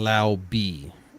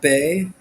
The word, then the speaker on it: Laube: So, Dylan Laube is the is it correct Laube? pronunciation. It's Laube, No, it's not Bay. not I like Bay. It's Laube. Laube.